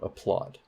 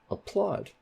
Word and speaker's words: applaud: on em what about applaud applaud applaud applaud which sounds better a plot so that plot has primary stress okay so that is